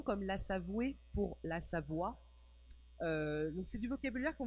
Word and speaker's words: Savoie: La Savoie, c'est la prononciation. La Savoie. Standard. Et là, c'est Savoué. Ah, oui. La Savoie seria a pronúncia correta, e Savoué é como eles pronunciam em Chambéry, por exemplo.